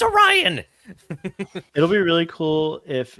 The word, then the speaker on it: Orion: you know it's like I even pronounce it oron or something oh that yeah that would yeah that would he just keeps saying Oriana and she's like it's Orion it'll be really cool